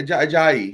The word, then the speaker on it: Ajayi: Yeah, Ajayi.